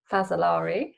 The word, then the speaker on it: Fazzolari: So just to kick it off, so sorry, I didn't even say your surname, Kim Fazzolari. Hopefully I pronounced that right.